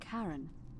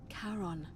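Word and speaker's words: Charon: It's just as you described it, only your pronunciation is a little off. The name you heard wasn't Karen. It was C H A R N. As in Karon, the fairyman of the dead.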